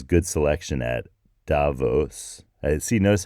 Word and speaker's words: Davos: You're going to hear Davos a lot, but it's not. It's Davos, German sounding pronunciation of it, or Tavau if you speak Romansh, which is a Romance